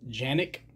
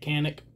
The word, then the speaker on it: Canik: with the canik and technically it's pronounced janic but this is america we say kanik spelled with a c